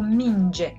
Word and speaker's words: minge: Mergeți, which means you, several persons are walking, or minge, yeah? Ball. And it is pronounced sort of like the J in the English general. All right?